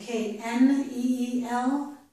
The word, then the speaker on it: kneel: K-E-E-L and K-N-E-E-L are the same except for the letter N. This one does not have an N, so it's k, keel. This one does have an N, so it's kneel, no k sound.